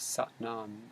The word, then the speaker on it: Sat Nam: kundalini yoga it's called satnam sat is s-a-t but it's pronounced like the a it's like ah so it's like sat